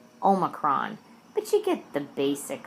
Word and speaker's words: Omicron: It's not Angelina and Brad, and it's definitely not Psi, oh my corn. It's Psi, Omicron.